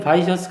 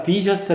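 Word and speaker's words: vicious: 선 미덕 이라는 뜻인데 아까 바이스의 형용사는 바이어스 아니라 비저스 라고 발음하고 악랄한 보드카 비셔스 가입해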